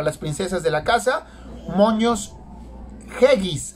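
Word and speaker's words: Moños Geggis: Moños Yeggis, así se pronuncia. Moños Yeggis, G-E-G-I-S.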